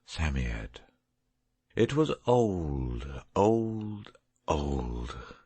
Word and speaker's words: Psammead: was a samiad or sand fairy samyad is pronounced sammied it was old old old and his birthday